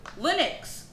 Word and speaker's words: Linux: Linux.